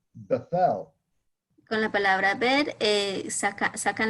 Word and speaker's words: Bethel: With the letter bet, we get words like Bethel, Con la palabra bet sacan la palabra Betel, which is pronounced Bet-El, cual se pronuncia Bet-El, which means house of God.